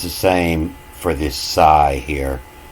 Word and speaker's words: psi: the same for this Psi here. We have all these words that start with Psi, and you don't pronounce the P.